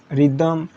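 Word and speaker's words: rhythm: मतलब आपको एक ही चीज़ सीखना है कि किसी वर्ड की शुरुआत अगर आर एच से हो तो एच आपका साइलेंट होता है, ठीक है। मतलब आर से पढ़ते हैं हम लोग राइम, रिदम, रेटोरिक, ठीक है, रॉन्ग, राइट, रिटर्न, ठीक है।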